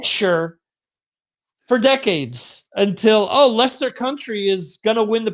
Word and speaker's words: Leicester: those in the uk which is pronounced lester i have been pronouncing it leicestershire or or like sure for decades until oh lester country is gonna win